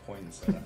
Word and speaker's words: poinsettia: I believe it's pronounced poinsettia. Poinsettia, yes. No tea in the middle.